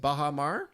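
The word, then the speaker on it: bajamar: Yes, it's actually pronounced Bahamar.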